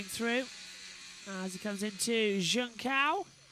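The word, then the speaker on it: Junção: I have a go at him every year for this, but it's not Jun Chao or whatever it is. It's Junkao. Literally, it's how it's spelled, Junkao.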